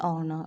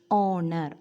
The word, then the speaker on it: honor: Honor, honor, O sound, vowel sound. H is silent here.